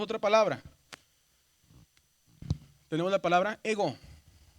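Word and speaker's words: ἐγώ: Y la regla dice que el acento grave disminuye la pronunciación. Entonces lo que hace es que esta la aumenta. Ego.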